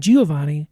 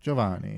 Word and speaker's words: Don Giovanni: I kept saying Giovani and she kept correcting me. Giovanni. Giovanni. Jovanni.